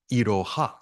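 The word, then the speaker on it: いろは: say Iroha no Uta, Iroha. That's one of the funny characters where ha can also be pronounced wa when it's a subject marker.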